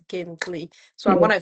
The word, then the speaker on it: Gingqi: use platforms such as these ones to say, oh, actually, it is Gintli, not Gintli.